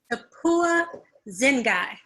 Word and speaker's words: Tapiwa Dzingai: Tapiwa Dzingai.